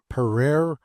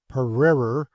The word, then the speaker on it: prairie: I may premise that the word prairie is variously pronounced pereire, pereirer, perorer. The latter mode of pronunciation is perhaps the most in favor.